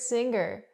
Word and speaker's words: singer: The word is not pronounced singer. I cannot pronounce the gggg, the hard g sound here. I cannot say singer. I say singer. Singer. The sound is in your nose.